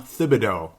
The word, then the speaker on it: Thibodeau: Now, ultimately, the whole conversation was, the Minnesota Timberwolves, they had a Tom Thibodeau, now that I'm saying it right, on Timberwolves Explosion.